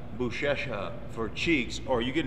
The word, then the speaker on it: Buchecha: I'm your host Mark sareth along with Marcus buesa right that's how they say it yeah now